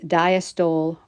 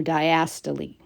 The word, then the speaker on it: diastole: the heart is contracted, the scientific word for that is systole or systole, and the relaxation time is diastole or diastole. So you'll hear the words pronounced both ways.